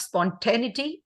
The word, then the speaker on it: spontaneity: The pronunciation of spontaneity, again, is in 5 syllables. Spontaneity. Spontaneity. So there are 5 syllables there.